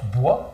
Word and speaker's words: BWA: bonjour bonjour Pourquoi bwa parce qu'on prenonce bois mais ça s'écrit BW c'est quoi parce que